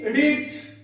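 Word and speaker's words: read: আমি আরো কিছু ভার্ব পটাপট লিখে নিচ্ছি, কি রিড, রিডস, আর পাস্টে আমরা জানি এই ফর্মটা হচ্ছে রেড। উচ্চারণটা আলাদা কিন্তু স্পেলিংটা এক।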